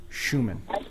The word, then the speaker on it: Schumann: It's Schumann. Well, how do you pronounce it? I've been saying Showman forever. Oh, Schumann. It's Schumann. So if anybody's mispronouncing it, take the time and learn the German.